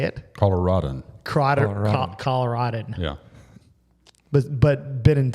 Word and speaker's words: Coloradan: Raj is a native Coloradian. Is that how you say it? Coloradan.